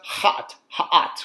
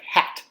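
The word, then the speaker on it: ḥꜣt: It's pronounced ha'at, or like hat. And I always think of it like a hat on a lion, like the lion's wearing a hat.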